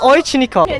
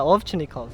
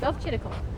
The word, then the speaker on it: Ovchinnikov: It's just Oychinikov or Ovchinikov. Yeah, Ovchinikov. Okay, yeah, that's pretty. It's that's not pretty it's not good, that complicated. Yeah. Yeah. Well, you heard from the man himself. His last name is Ovchinikov.